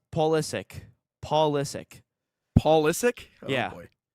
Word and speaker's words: Pulisic: How do you think they pronounce Pulisic? Pulisic? You're yeah, that's pretty spot on. It's Pulisic.